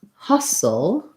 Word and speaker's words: hustle: end of it versus hustle hustle um we don't say the t there and it has a schwa